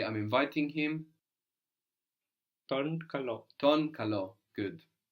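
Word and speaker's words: τον: I I'm inviting you the word for him is ton ton ton ton that's spelled with a t an O and how do we get that n sound from a v from a v good the letter looks like V so that means him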